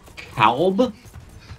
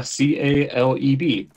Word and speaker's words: Caleb: be like, "Uh, so this guy's name is Calb." Calb like could you spell that for me?